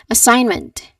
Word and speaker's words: assignment: Assignment. Assignment. Finish your assignment today. I did not highlight it properly. Finish your assignment today. Your turn. Very good. Remember the silent G sound here. Assignment.